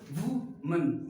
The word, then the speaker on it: women: Next वैसे वुमेन, वुमेन नहीं इट्स वुमिन, वुमिन, वुमिन, इसे वुमिन पढ़ेंगे, क्या पढ़ेंगे वुमिन पढ़ेंगे, वुमिन, इसे वुमन, इसे वुमिन।